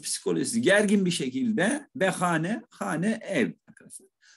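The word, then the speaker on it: خانه: Yani sıkıntılı bir şekilde, biraz psikolojisi gergin bir şekilde ve hane, hane ev arkadaşlar. Kullanımda hune diye de kullanılıyor. Ağlar telaffuzda, bilhassa Tahran'da arkadaşlar hune şeklinde kullanılıyor.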